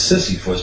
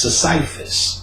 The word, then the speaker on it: Sisyphus: So the next day I went to work, I looked up Sisyphus, which they said, people think it's Sisyphus, but it's pronounced Sisyphus.